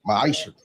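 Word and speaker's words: מעשר: verse 8 through 10, means 10th in Hebrew and it's pronounced ma'asher.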